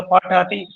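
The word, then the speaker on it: पठति: तीनों को उच्चारण करके देखो, आपको पता चल जाएगा ये क्या है? पढ़ती, ये पढ़ती, ये पठती। पढ़ती। ठ का पूरा मोल है ठ, तो ठ बोलना है आप।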